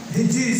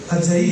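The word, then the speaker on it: حجی: ہم ہجری سنتے آئے ہیں اور ہجری ہی کہتے ہیں لیکن اس کا صحیح تلفظ ہجئی ہے.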